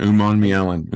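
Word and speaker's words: Umanmielen: Uman Mielen. Okay, that makes sense looking at how it's spelled.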